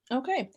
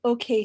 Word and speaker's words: Oke: our name out there okay so you still haven't told me what does okay stand for yes so okay means it can mean gift it's pronounced tonally or like basically in different contexts and different things so